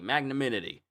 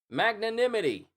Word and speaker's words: magnanimity: That word always gets me. Magnaminity. And it still gets me because I still said it wrong. Magnanimity.